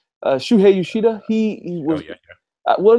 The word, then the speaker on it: Shuhei Yoshida: Shuhei Yoshida.